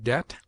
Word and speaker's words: debt: It is mute in det, debtor, subtle, doubt, lamb, limb, dumb, thumb, climb, comb, womb.